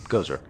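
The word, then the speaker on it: Gozreh: and making the symbol that he follows for Gosra. Was it Gosra? How you say it? Gozer.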